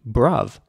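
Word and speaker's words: bruv: broth Bruff is also short for brother however it's spelled b-r-u-v brov and not many people outside of the United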